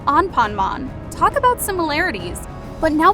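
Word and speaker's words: アンパンマン: pronounced Juan ponmon while the kids show is pronounced on ponmon talk about similarities but now we gotta talk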